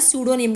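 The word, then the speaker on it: pseudonym: और स्पेलिंग बोला है सूडो निम का तो सूडो निम में सी पी रिमन silent S ई यू डी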